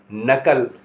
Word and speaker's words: knuckle: KNUCKLE नकल यानी उंगली का जोड़, इसको उंगली का जोड़ नकल। अब मैं बताऊंगा एल कहाँ साइलेंट होता है।